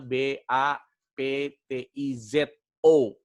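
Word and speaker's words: βαπτίζω: Ya, tulisannya B A P T I Z O. Ya, B A P T I Z O. Jadi dibacanya baptizo.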